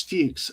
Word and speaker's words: Fuchs: So, anyway, the German word is Fuchs. We call it Fuchs here in this country. People's name is Fuchs, Fuchs, and that's the way it's pronounced.